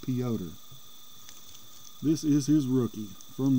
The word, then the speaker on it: Piotr: cards here piotr yawn spelled like peter but they always pronounce it peoter this is his rookie